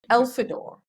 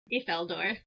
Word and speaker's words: Ifeldor: Is the first of the runic histories of Elfidor. Did I say that one correctly, at least? Ifeldor.